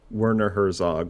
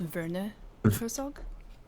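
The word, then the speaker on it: Werner Herzog: I listened to a podcast once one like one time only and it was Wernner Herszog on Mark Maron and uh I think it's pronounced Vera Herszog.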